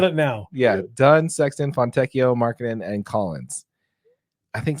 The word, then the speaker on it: Fontecchio: Thank you, people in the comments, for correcting AJ on his pronunciation. Fontecchio. Fontecchio.